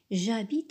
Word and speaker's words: j'habite: faim même chose pour j'habite j'habite à Paris regarder le verbe habite commence par un H ce h est muet il ne se prononce pas donc dans ce cas